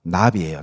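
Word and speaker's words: נביא: 여러분, 구약에 선지자, 예레미야 선지자, 이사야 선지자 할 때 그 선지자의 히브리어가 나비예요. 나비. 버터플라이가 아닙니다. 발음으로 나비입니다.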